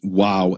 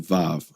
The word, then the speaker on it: Waw: foreign language Yiddish, and therefore they changed wow into vav, into v.